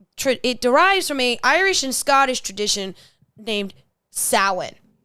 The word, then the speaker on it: Samhain: And it derives from a Irish and Scottish tradition named Samhain. Samhain, not salmon.